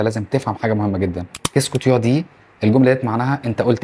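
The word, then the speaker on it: qu'est-ce que tu dis: طيب معظم الفرنسيين اصلا مش بينطقها كده، طيب انت هتسمعها ازاي علشان تفهمها وتقدر تقولها زيهم ازاي؟ طيب تيو انت هتحولها الى طا، يبقى كيسكو تا دي.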